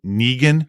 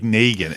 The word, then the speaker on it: Negan: When you only have read it and not know how it's pronounced, the character of Negan, everybody that read the comic before it came out thought it was Negan. Yeah. Because it's spelled like Negan.